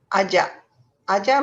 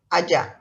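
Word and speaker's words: ajar: with the first one ajah means to teach so um can you try saying that aja just like pasa you remember i don't pronounce the r it's ja sound so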